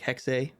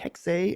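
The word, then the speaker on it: Hexe: like Assassin's Creed hex spelled h-e-x-e he pronounced it like hexay but uh what's that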